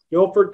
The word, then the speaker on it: Guilford: played four years at guilford college am i pronouncing that correctly correct guilford college a quarterback of a football team for